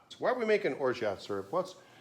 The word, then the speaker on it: orgeat: It looks like Orgeat, but it's French. It's originally from France. And they say Orgeat. So why are we making Orgeat syrup?